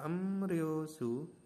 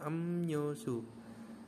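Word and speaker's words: 음료수: jadi ini contohnya ada em rosu tulisannya tapi dibacanya emnyosu nah ini jenis minuman artinya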